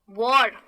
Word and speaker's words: war: देखिए WAR है लेकिन कहते कैसे हैं, वॉर, वार्म। तो वार्म, इसमें भी मैं ओ लगाती हूँ। काफी सारे वर्ड्स ऐसे हैं जिसमें ए लग रहा है लेकिन ए का मतलब ये नहीं है कि मैं उसको अ की तरह प्रोनाउंस करूँ, उसका मतलब है ओ।